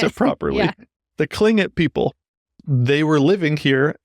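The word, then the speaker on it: Tlingit: starts with yeah so even though you make like a k sound my the it all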